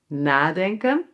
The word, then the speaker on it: nadenken: So a big difference between these two verbs is that with a separable compound verb the emphasis is on the first part, like here on NA: "NAdenken".